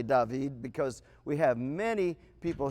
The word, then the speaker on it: David: this door and in so doing you you pronounce that David okay it could be David which means to give love out or give affection out but David says it's a recipient of the love David we say David however in Louisiana we often